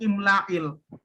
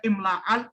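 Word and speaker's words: إملاء: Jadinya bacanya imla'il. Nggak dibaca imla'al atau imla'ul.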